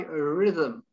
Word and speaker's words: rhythm: Yes, I suppose the H slides in and next to the H to the letter Y, rhythm, rhythm.